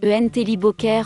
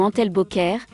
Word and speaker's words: Entlebucher: Le bouvier Antlebucher, prononcé Entelibocher ou Antelbocher, est le plus petit des 4 bouviers suisses, les autres étant lapins ailés, le bouvier bernois et le grand bouvier suisse.